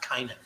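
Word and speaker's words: Cainan: It was C-A-I-N-A-N. Maybe I should pronounce it differently, like Kainan.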